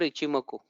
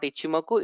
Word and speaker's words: Ichimoku: It's not Ichimoku, it's Ichimoku. I am sorry. Though I say it's Ichimoku, I am also used to calling it Ichimoku. Though my pronunciation is fairly better than Ikimoku or Ichimoku. Okay, but it's Ichimoku. Okay, that is one of the observations.